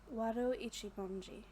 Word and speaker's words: Wado Ichimonji: Wado Ichimonji.